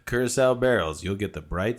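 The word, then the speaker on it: Curaçao: How do you pronounce that? Curacao. Curacao barrels, you'll get the bright citrus and rich chocolate without the foil wrapper and dramatic noise making.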